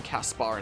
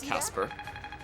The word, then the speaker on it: Caspar: It's so weird saying Caspar instead of Casper. But apparently that's just how it's pronounced.